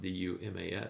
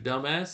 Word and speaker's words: Duma: and it's, you know, it's spelled D U M- A. And he goes, he goes, "Hello, Mr. Dumbass. It's nice to meet you." And the guy goes, "It's Duma." Anyway, I don't know what